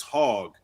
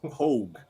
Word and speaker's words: Hoag: pronounce her name because when you look at the name it looks like it's hog and i don't want to call her a hog but it's hogue like hoagie yeah so so judith